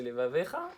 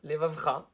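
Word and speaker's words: לבבך: Et non seulement levavecha, il faut bien le prononcer levavecha, et pas levavcha.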